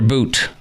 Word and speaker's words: Bout: me talking about Victor boot it looks like the word bout but it is pronounced Boot and um I'll tell